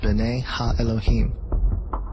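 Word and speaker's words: בְּנֵי הָאֱלֹהִים: of God mentioned here in the Hebrew is pronounced Bena Elohim the Septuagint which is the Greek translation of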